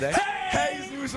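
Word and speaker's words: Jesús: What is his name pronounced properly? And where is he from? Jesus M. Hey, Zeus M.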